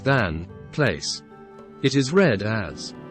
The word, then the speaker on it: than: From the speech we see that the non-Roma pronounce this word as tan, without the letter h, and not as the Roma, than.